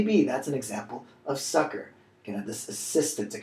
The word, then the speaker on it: succor: they mean starting with sucker now this doesn't mean like haha I got you sucker though it's pronounced the same way so phonetically equivalent but the meaning of